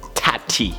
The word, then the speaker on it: Tati: brought this upon yourselves I wanted us to call it Taddy but apparently it's not Taddy it's tap tea a lot of people